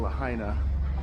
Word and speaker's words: Lahaina: We got to get to the other side of Lahaina, but we had no gas, so we have